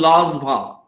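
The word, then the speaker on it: Langevin: is bsc and i distinctly remember his correct pronunciation of paul lazvah earlier we used to pronounce all by the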